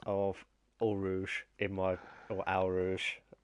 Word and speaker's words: Eau Rouge: Good evening to Rick, who says El Rouge, as he pronounced it as well. Um, Yeah, of course. um, I do have my pronunciation of the Midlands accent of Eau Rouge in my or Al Rouge.